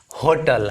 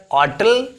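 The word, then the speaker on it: hotel: ये धड़ल्ले से चल रहा है होटल, इसका प्रोनाउंसिएशन एच होने लगा है, होटल हम कह देते हैं। तो जब होटल इसका प्रोनाउंसिएशन हो रहा है तो हम ए होटल लिख सकते हैं। और अगर ऑटल यानी ट्रेडिशनल ग्रामर के अनुसार, ट्रेडिशनल प्रोनाउंसिएशन के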